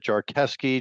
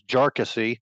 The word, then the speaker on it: Jarkesy: the name of it and we've called it Jesy jesi I was told earlier today that the actual pronunciation is jassy and that was used by Mr jassy's lawyer